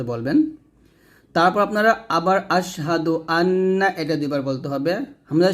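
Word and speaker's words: أنّ: তারপর আপনারা আবার আশহাদু আন্না এটা দুইবার বলতে হবে হামজা সিন জবর আশহা জবর হা আশহা দাল পেশিতু আশহাদু হামজা নুন জবর আন এখানে অবশ্যই গুন্না করতে হবে আশহাদু আন্না আন্না এরকম মিম পেশ মুহাম্ম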